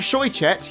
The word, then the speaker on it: Shoichet: I do wish Rebecca Shoichet, yes that's actually how you pronounce her name, I've been getting it wrong for years, would stop singing Twilight